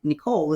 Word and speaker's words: Necole: the same as my Instagram handle and my Nicole is spelled with an E it's NE e c